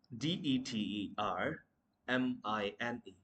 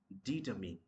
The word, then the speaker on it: determine: First word that we mispronounce which is d e t e r m i n e.